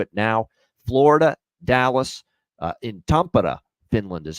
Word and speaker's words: Tampere: Florida, Dallas, in Tampere, Finland is how you pronounce that, by the way.